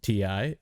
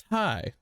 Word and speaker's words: Ti: announced the 3070 ti which i learned today is not pronounced ti is pronounced thai had no idea apparently